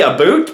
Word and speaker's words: about: Something about my hair, something about my mustache, or something about the way I say this word. I say aboot, most North Americans say about.